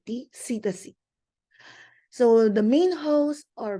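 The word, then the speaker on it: psittaci: spelling it is double t and it is pronounced as silent cac so the main house are Birds and humans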